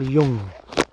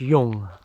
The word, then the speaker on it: Jung: incredible when you read carl young or carl jung whichever way you want to pronounce it i think it's young if if i'm wrong please